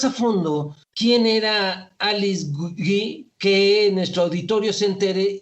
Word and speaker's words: Guy: mujer que en francés se escribe Alice Guy con Y, y ya nos instruyó nuestra invitada que se pronuncia Guy, entonces hablaremos de ella en cuanto volvamos.